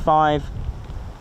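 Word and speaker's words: fife: other one so that's there's also five f i f e instead of five and also number nine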